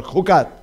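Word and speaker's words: Chukat: Jucat, diga conmigo, Jucat, o Jucat mejor, Jucat. Se escribe Jucat, pero se pronuncia con J, Jucat.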